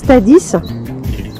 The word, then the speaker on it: Dadès: Donc là, on se trouve au niveau des gorges de Tadès, en fonction de comment vous pouvez le prononcer, mais ici ça se prononce Tadis.